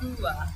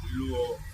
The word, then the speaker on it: Luo: I've heard some people say Lua. Luo, it should be Luo.